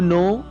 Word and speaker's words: know: इसी तरह सेकंड जो वर्ड है नो, KNOW, नो, same pronunciation है लेकिन स्पेलिंग्स अलग होते हैं, इसलिए मीनिंग अलग हो जाता है।